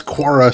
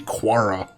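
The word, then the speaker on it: Qara: Dusty toome forget it I keep wanting to pronounce that Q in her name is a hard Q cuz quara seems like such a weird fantasy name to me quara I don't know it seems like it would make more sense to be a hard q but I know that's how they pronounce it coincidentally a tling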